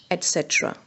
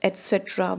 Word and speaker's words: etc.: And structure means like the formation, arrangement, etc. You know what etc. means? And so on. You know that we often pronounce etc. with an X sound, but in actual it is pronounced with a T sound.